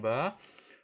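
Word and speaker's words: ب: Nah, bagaimana pengucapan ba? Perhatikan bibir Ustadz. Dua bibir tertutup ba.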